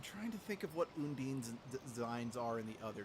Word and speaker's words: Undine: And yes, just to reiterate, they call her Undini in this game. She's called Undine in every other game.